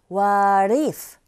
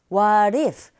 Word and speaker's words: what if: 제가 매번 말씀드리는 규칙 중에 모음과 모음 사이의 트 사운드가 어떻게 들린다고요? 네, 맞아요. R 소리에 가깝게 들린다고 말씀드렸죠. 그래서 이 소리가 what if가 아니라 what if, what if 이렇게 발음하시면 훨씬 더